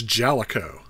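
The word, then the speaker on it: Jaleco: did you hear that I finally know how to pronounce this it's Jellico anywho brawl Brothers was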